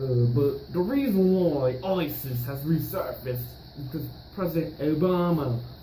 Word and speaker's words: ISIS: of what is this is is oh former president Roosevelt it is pronounced Isis not is is Isis also known as